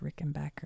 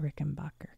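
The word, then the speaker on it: Rickenbacker: as Beetle base 1958 Rick and Backer and the 57 Gretch Duo Jet he's just kind of hidden this is why I think it's Rick and Backer and not Rick and Bacher because it says here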